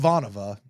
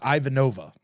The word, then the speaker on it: Ivanova: and perhaps most importantly we learned that it's pronounced aanova and not Ivanova so now we remember